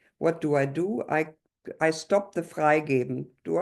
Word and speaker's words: Freigeben: I stop the Freigeben, do I? Yes, stop the Freigehen. I don't know how to pronounce it in German. Yes, You know better. Correct, Freigeben.